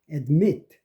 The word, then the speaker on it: admit: admit. 이것도 mit의 액센트가 있는데 앞에는 A가 슈아가 안 되고 admit.